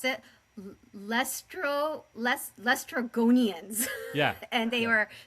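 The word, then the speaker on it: Laestrygonians: to pronounce it. Lestrogonians.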